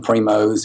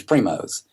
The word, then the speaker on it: Primos: people interested in name Primo's and learn to pronounce it people say primo they say primo but it has an s donut in its Primo's it was it's a